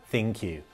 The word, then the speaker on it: ThinQ: and we can confirm it is pronounced thank you like thank you but thank you then q it picks up where